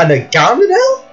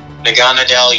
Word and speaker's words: Naganadel: Yep, while Jaxter's team, I'm going to try and pronounce this first Pokemon again, my handwriting, a Nagamadel? Naganadel, yeah. Okay, got Gattis.